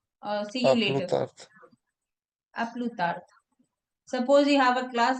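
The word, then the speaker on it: à plus tard: And then aplu tard. A plus We don't later.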